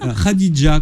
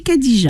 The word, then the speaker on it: Khadija: Si, il y a un H, mais entre le K et le A. D'accord. Ça sera Khadija, mais on dit Khadija.